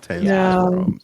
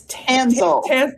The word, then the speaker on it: Tanselle: So I'm going to say it's Tanselle. Tanselle, kind of like Hansel.